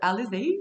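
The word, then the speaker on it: Alizée: world uh by the way my name is alexey but nobody can pronounce it especially like if it's in written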